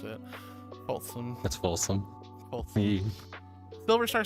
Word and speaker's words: Folsom: I always forget how to pronounce it. Folsom.